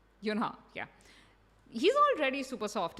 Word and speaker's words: Yunha: Did I say her name right? Yunha, yeah.